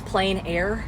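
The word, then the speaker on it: plein air: French spelling yes but it literally means plain air yeah p l e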